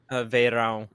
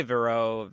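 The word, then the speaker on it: Verão: slowed versions of uh Veyron it's yeah it's the Portuguese word for summer and a lot of people don't know how to pronounce it I'm Portuguese so like oh that kind of thing clicks with me but uh you could say Vero they don't like whatever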